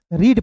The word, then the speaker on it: read: आर ई ए डी तो कैसे पढ़ेंगे रेड पढ़ेंगे क्या नहीं रीड पढ़ेंगे कैसे तो आर का र लिखना है और डी का डॉ लिखना है ई ए है तो यहां पे उच्चारण बड़ी ई के रूप में यानी कि ई के रूप में करेंगे तो हो जाएगा रीड।